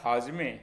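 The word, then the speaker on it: هاضمه: नीचे से अगला शब्द हाजमे लिफ की जॉइनिंग देखिए फारस में हम हाजमे कहते हैं जिसे हम हिंदी में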